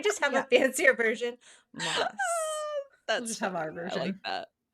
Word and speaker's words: Maas: To me, it has always been Moss. There's 2 A's. But then she came out with her like promo and was like, hi, this is Sarah J. Maas. And I had a conniption because I've been saying it wrong this entire time, as have all of us.